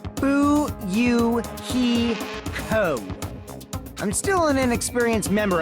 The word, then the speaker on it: Fuyuhiko: My first name is pronounced Bu-Yu-He-Ko.